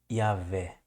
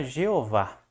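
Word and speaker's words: Yahweh: Essa é a pronúncia Yahé, que depois foi erroneamente traduzido para Jeová, né?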